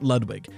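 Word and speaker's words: Ludwig: was founded by Elliot lwig yes the game pronounces it like the YouTuber not the Koopa sometime in the 30s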